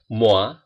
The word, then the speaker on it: moi: Huruf O dan I itu dibaca OA. Misal di sini, moi artinya saya, moi.